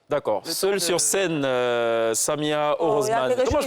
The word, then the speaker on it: Orosemane: Ça sonne, Orozman, ça sonne. Je ne vois pas. Comme heureusement. Heureusement, avec un accent du Sud.